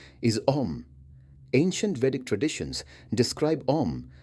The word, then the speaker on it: Om: The chant commonly called Om is traditionally pronounced as three sounds, A, U, M. Together, they form Om.